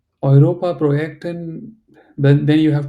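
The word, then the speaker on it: Europa: problem you can but the way you are saying Europe is not correct aopa it's like the oi of boy or okay okay okay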